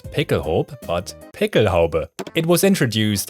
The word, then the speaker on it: Pickelhaube: as a licensed German, I can pronounce this word accurately and authentically. It's Pickelhaube! Sorry, that happens sometimes. I don't know why. I often hear people say something like Pickelhaube or something like that, but no, the word actually ends